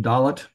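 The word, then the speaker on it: dalet: a hard G then dollet also has a doges in it again for modern Hebrew it does not change the sound we just use a plain old D is in door type of sound hey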